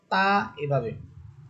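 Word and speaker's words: ت: সামনের উপরের দুই দাতের গোড়ার সাথে লেগে স্বাভাবিকভাবে এক আলিফ টেনে আপনাকে উচ্চারণ করতে হবে। তা এভাবে আচ্ছা এখানে তা হরফের একটা সিফাত আমি বলে দেই।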